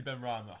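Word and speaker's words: Benrahma: How do you pronounce it? Which one? For Ben Rama. Ben Rama. Definitely Ben Rama, 100%.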